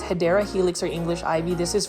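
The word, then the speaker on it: Hedera helix: here we have a hedra helix or the correct way to say it is hyera helix or English ivy this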